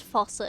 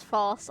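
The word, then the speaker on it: Fausse: I almost said faucet again. Faucet. No, it's Foss. I've learned to pronounce it right now.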